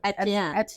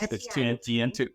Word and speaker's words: Etienne: Yeah, Etienne. I was practicing always for you. It's Etienne, two syllables.